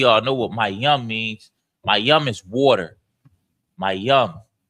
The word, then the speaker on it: Mayam: It's M-A. Ma, then is Y-A-M-A, but you take the A off at the end. So it's Y-A-M. So it's M-A-Y-A-M. Mayam. The Y-A and the M is connected. So it's yum. And the ma is at the beginning. Ma, yum.